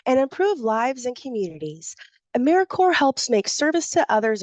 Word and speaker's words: AmeriCorps: it it's americore not americ corpse pronounced a maror just like Peace Corp or US Army Corp of Engineers national service Bridges divides